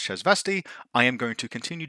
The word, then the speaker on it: Shasvastii: to is called the shz vasti Continuum and pronouncing it shasvastii Continuum just felt more satisfying however listening to the game creators pronounce the word it's obvious that it's pronounced chz vasti I am going to continue to get it